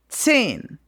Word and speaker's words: zehn: So you spell it Z or Z-E-H-N, and this Z is really like tss. It's like if you had a T and an S afterwards.